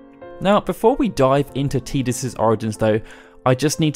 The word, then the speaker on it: Tidus: to say that yes, I will be pronouncing his name as Tidus throughout this video. We did a poll recently, and although Tidus actually won the majority vote, because it's very much the official way now, with him even being